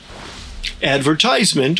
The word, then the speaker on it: advertisement: Advertisement or advertisement. Advertisement is the American and Canadian pronunciation and advertisement is the British pronunciation. Australians use both with younger generations often preferring advertisement and older generations preferring advertisement.